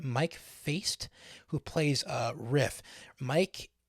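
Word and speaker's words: Faist: i have notes um mike faced faced i think his name that's how he pronounced his last name mike feist who plays uh riff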